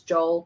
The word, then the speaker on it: Joel: out like so it's did says Joel pronounced h-o-e hyphen e l oh okay um 1897.